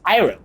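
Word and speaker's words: Iroh: and a and e like what no it's iro it's Avatar it's a and it's Sucka not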